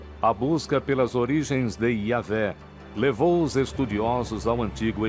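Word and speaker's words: Yahweh: Assim, seu título era Deus, e seu nome eram essas 4 letras, YHWH, que provavelmente eram pronunciadas Yahvé.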